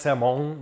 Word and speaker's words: salmon: It's pronounced salmon, but hey, who am I?